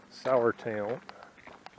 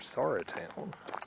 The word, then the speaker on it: Sauratown: around the curve here the uh sour town or sarah town mountain i watched and apparently there are people that pronounce it both ways so i think it's sorry town i'm going to go